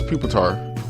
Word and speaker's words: Pupitar: I've never known how to say it. I think it is Pupitar.